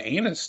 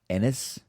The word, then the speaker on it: Ennis: know the other one he was born in anus texas apparently ennis we asked what the joke is that that's